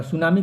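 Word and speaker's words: tsunami: ठीक है, और सुनामी को टी सुनामी लिखा जाता है, टी साइलेंट हो जाता है, ये भी ध्यान रखिएगा।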